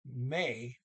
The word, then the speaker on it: med: See here, and the D and may, MED is silent.